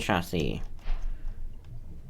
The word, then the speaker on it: chassis: Simple machine chassis. The third S is silent.